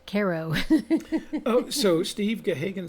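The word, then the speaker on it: Cairo: is a favorite Midwestern pastime Oh Kairo Nebraska pronounced karo oh so Steve Kay Hagan says no no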